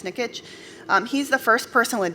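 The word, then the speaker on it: Nikic: sun is quick uh chris nick nikitch that's how he pronounces the name chris nickitch he's the first person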